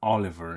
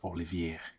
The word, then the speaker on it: Olivier: name at the beginning it's not Oliver it's Olivier France Al so hey